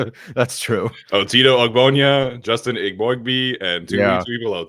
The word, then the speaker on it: Eboigbe: that's funny that's Justin Ebby so it turns out I do have to pronounce his name IB bo b so we got a